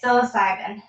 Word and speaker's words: psilocybin: And I'm drawing a blank on how you would pronounce this word. This plant. Oh my gosh, as I say it, psilocybin.